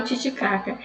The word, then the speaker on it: Titicaca: Em espanhol, como seria a pronúncia? Tio, tímido, Tiago. Titicaca, o lago Titicaca, não é o lago Titicaca. Titicaca, Titicaca. Então, Titicaca.